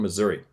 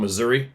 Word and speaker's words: Missouri: The first encounter happened at a popular trout fishing campground in southern Missouri. It's funny how it's spelled. We call it Missouri, but when I was in Missouri, everybody says it's Missouri.